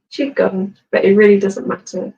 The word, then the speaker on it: qigong: we want and Jong everyone's Unsure how to pronounce it so it's ch gun but it really doesn't